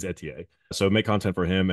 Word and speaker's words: Ethier: It's Jeremy Ethiers or Etier. Jeremy Etier. I want it on the record. That's actually how you pronounce it. And us Americans always say Ethier, but it's Etier.